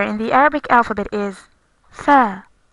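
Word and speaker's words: ث: The fourth letter in the Arabic alphabet is tha, tha. It resembles the TH in English, like in three.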